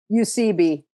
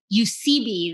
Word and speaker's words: Eusebi: is your last name how is it pronounced sorry UCB you see B there you go so